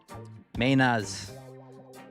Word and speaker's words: Mainers: Mainas. Spelled like this. Mainas. We replaced the R's with the H's.